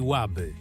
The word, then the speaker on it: Łaby: Leży on na brzegu rzeki Łaby. Akcent na E i pojawia się tylko wtedy, gdy poziom wody spada do katastrofalnie niskiego poziomu.